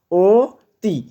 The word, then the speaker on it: অতি: এই নিয়মে গঠিত শব্দের উচ্চারণ কোনটি? অতি। ওতি। তাহলে অতি বলি না আমরা?